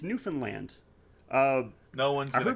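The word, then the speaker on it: Newfoundland: ever says it right everyone always says newfinland or New Found Lind it's newfinland uh no one's going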